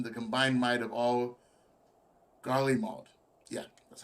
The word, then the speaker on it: Garlemald: find ourselves facing the combined might of all Garlemald. Yeah, that's how you pronounce that.